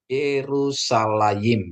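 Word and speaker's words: ירושלים: ya jadi bacaannya adalah yerusalaim ya Yerusalem ya yerusalayim ya tulisannya seperti ini ada Spa ada Res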